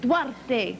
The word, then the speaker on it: Duarte: Okay, well, this is again the Chris Duarte... Wait, I got to say it right. Chris Duarte, Spanish. It's real there. good. It's Spanish.